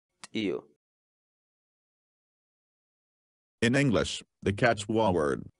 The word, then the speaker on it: t'iyu: So our word of the day for today is Tio. Tio. Tio.